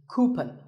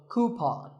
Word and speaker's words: coupon: have one of these of a common incorrect pronunciation is cupen but the second syllable should be pawn so coupon here's word number 16